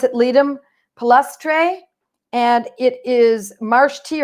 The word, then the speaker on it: Ledum palustre: I'm on page 83, and I'm reading Ledum palustre. So it's Ledum. I make it a long E. I'm pretty sure it's a long E. These are Latin words, and I do have